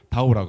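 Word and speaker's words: 到: 그리고 도착하다라는 뜻을 가진 단어의 발음도 마찬가지로 다오라고 합니다.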